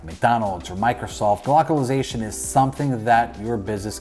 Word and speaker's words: glocalization: might have guessed it you might have not glockalization no that is not a typo and i am not mispronounced glocalization is a thing whether you're a